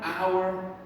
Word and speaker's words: hour: again and bingo bango all right school rhyme our air okay so air boys and girls that